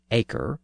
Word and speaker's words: acre: That word acre is spelled A-C-R-E. Acre is like many words found in modern British English, where the pronunciation is er, but the spelling is R-E.